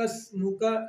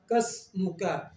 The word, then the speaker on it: اسْمُكَ: نہیں پڑھیں گے، یہ غلط ہو جائے گا۔ قسمک، اب سین کو جب ادا کریں گے تو سیدھی سی آواز ادا ہوگی، سین کو صحیح تلفظ کے ساتھ پڑھیں گے وَتَبَارَكَ اسْمُكَ، یہاں پہ قسمک یہ نہیں پڑھیں گے، یہ